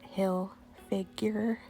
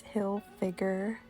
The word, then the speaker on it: Hilfiger: always have tommy hilfiger a lot of people try to pronounce it hill figure but it's hill figure and he always has